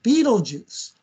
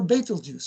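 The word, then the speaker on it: Betelgeuse: color a reddish star beetle juice or betal juice or betalux has many pronunciations I like beetle juice easy to remember and I hope uh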